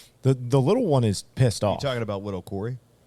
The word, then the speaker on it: Pistoff: we are smoking the pissed off Christoff and no I didn't swear that doesn't count toward the change jar n uh it is spelled p i s t FF we are smoking to